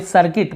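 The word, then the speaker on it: circuit: सर्कस, यहाँ पर भी सॉरी सर्किट, मैं कहाँ सर्कस बोल रहा हूँ, सर्किट, सर्किट यानी सर्किट, यहाँ पर भी यू को हम नहीं पढ़ रहे हैं, सर्किट ऐसे नहीं पढ़ रहे हैं।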